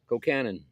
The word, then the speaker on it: colcannon: I have had, okay, how do you pronounce it? Is it Colcannon? Colcannon.